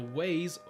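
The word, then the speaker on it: Waygates: the weight gates and the way gates the waze that's how they say it is a very dark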